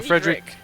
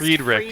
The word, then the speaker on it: Friedrich: So Frederick, It's pronounced Friedrich. Friedrich.